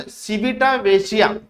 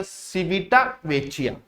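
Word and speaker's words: Civitavecchia: Next question आता है हमारे पास, नेक्स्ट क्वेश्चन है सिविटा वेचिया, क्या सिविटा वेचिया which was seen in the news is a city in which country.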